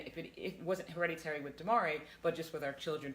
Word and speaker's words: De'Maurier: Demarie. Demarie.